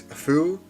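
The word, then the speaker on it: ふ: Bu, o, and of course, I know this is fu, but I read somewhere that the pronunciation is a bit closer to who. Well, not who, but hu. Like, you don't pronounce the f sound. It's like foo, but you don't pronounce the f, if that makes sense.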